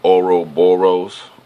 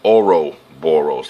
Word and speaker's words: Ouroboros: Okay, that's why it's Ouroboros, like oro, like gold. The pronunciation sounds the same.